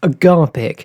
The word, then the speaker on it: Agapeic: Okay, I'm pronouncing this Agapeic. You could also say agape and therefore Agapeic, but Fletcher pronounces it as agape, but Agapeic sounds made up, so I've gone with Agapeic.